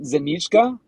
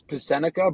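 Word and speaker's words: Psenicka: to butcher this, but Zanichka, I believe it's Max Zanichka. Right now I have him in the third round. It's it looks Pasenica, but it's Zanichka.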